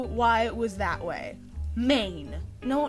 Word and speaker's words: Maine: something but it's not it's main the letters that you think of are ma a and MN and not me it's a silent E who the heck abbreviate